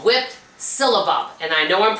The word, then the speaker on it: syllabub: It's called whipped syllabub. And I know I'm pronouncing that correctly.